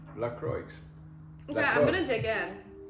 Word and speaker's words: LaCroix: it was yesterday because we thought it was um French and fancy but it's actually LaCroix yeah I'm gonna dig